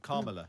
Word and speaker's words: Kamala: Kamala Harris, isn't it? Kamala. Yeah, there's a Kamala. Kamala. Well, it's complicated because it's meant to sound like comma in America, but then they say comma differently, don't they?